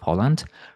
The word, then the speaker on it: Folland: my guest is Holland rhymes with Holland but not with the Netherlands a podcaster a community